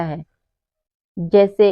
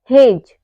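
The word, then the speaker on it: hedge: हमारा D silent है ऐसे ही हेज हेज में भी क्या है डी के बाद जी आया हु है तो यहां पे हमारा डी साइलेंट है वैसे ही अगला है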